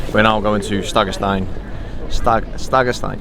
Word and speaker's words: Stegastein: Stegastein. Yeah, I'm saying it right. Yeah, you were saying Stengens. Oh, I was saying Stag. It's Stegastein Viewpoint.